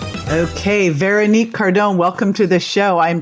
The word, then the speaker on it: Veronique Cardon: Okay, Veronique Cardon, welcome to the show.